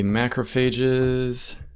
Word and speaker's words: macrophage: So MHC2 is used by we'll see macrophages. By the way, macrophage is a British pronunciation.